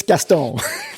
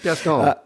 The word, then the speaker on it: Gaston: The first season, you got to see, I call him Michael Gaston. I'm guessing he pronounced it Gaston. Look, I've got 3 daughters. It's Gaston. Gaston.